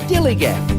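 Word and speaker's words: DILLIGAF: That's spelled D-I-L-L-I-G-A-F, dillygaff, and this is what it means.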